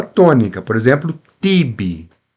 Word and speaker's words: tibi: Mas quando o ti cai na sílaba forte, então não fica tsi, fica ti. Tibi.